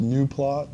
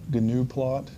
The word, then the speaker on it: Gnuplot: It is pronounced Gnuplot, not Gnuplot, even though sometimes I may catch myself making that same mistake.